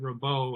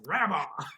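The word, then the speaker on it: Rabaut: and the relationship, and I pronounced it Rabeau, and he said, "It's Rabba," in his inimitable way.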